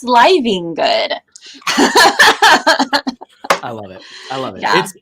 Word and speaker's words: Livengood: Yeah, no, that's exactly, like, you're living good. I'm like, actually, it's pronounced Livengood.